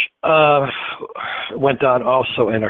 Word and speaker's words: Whydah: Some pronounce it the Widow. Yep. Whyddah.